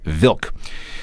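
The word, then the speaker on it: Wilk: something together Zach knew a drummer named Brad Vil I know his last name searched with a W but the proper pronunciation is Vil he had taken lessons from some serious jazz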